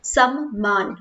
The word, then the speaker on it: सम्मान: सम्मान, और वो क्या हो, संसार मतलब न और म की बात हुई, यहाँ पे आधा म प्रोनाउंस हो रहा है और यहाँ पे न प्रोनाउंस हो रहा है।